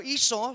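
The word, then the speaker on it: Esau: Pero iso sa English if you pronounce it in the English word.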